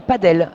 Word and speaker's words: padel: Ça s'appelle du padel. Ça s'écrit et break, voilà, break dans ce premier fait set.